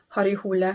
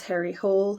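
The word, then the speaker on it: Harry Hole: that he writes is har hula which in English you would pronounce Harry hle har hula who is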